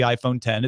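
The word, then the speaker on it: iPhone X: inch phone called the iPhone 10 it's spelled with an X but it's pronounced 10 has a glass front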